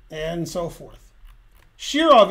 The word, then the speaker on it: Shirov: wrong and so forth shirov is correct they said shiron okay now you will